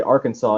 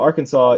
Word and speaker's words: Arkansas: And the R is actually because when you pronounce it in a Bostonian accent, comes off R, and it gives a hard sound to it. So Arkansas is mispronounced on the front because of Bostonian English, and mispronounced on the back because people don't give a fuck about Native Americans.